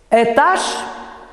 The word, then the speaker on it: этаж: На месте «э» в начале слова произносится «ы» с призвуком «э». Этаж, экран, экономика и так далее.